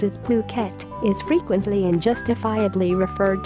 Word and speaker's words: Phuket: The beautiful, tropical island of Phuket, fortunately pronounced as Phuket, is frequently and justifiably referred to as the Pearl of the Andaman Sea and is the largest island in Thailand.